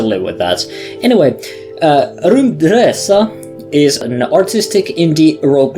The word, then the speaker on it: RymdResa: taking a look ATA I'm going to say it like that because it's Swedish and that's the only way I can pronounce Swedish things so you're going to